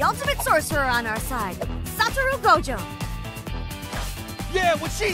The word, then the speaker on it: Satoru Gojo: Satoru Gojo, that's how you pronounce the name.